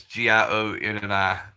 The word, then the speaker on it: Gionni: It's Gianni, and it's spelled kind of weird. It's Gionni, and so I've got people who know me through school.